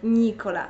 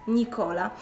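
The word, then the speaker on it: Nicola: wirusem złego akcentowania ponieważ wszyscy nazywają go właśnie Nikola zamiast Nikola drugim problemem z jakim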